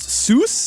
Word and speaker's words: Sus: genus sus and although as much fun as it is to say that pig is sus i think it's actually pronounced seuss although if i were